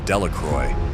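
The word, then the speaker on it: Delacroix: Harry Jones and Dicky delaca the villagers pronounced this name delacroy eventually made a great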